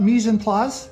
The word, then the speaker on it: mise en place: Okay, Chef John, we are now going to talk about mise en place. Did I say it correctly? Yes, you did.